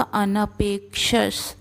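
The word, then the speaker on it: अनपेक्षः: तो यहाँ पर होगा अनपेक्ष, तो प के ऊपर आघात है, अनपेक्ष शुचिर्दक्ष।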